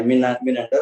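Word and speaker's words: Menander: हा असा हा बॅक्ट्रियाचा राजा मिनॅंडर, ते तिथलं त्याचं ते तिथलं उच्चारण आहे मिनॅंडर, आणि ते तिथलं खरंच आहे.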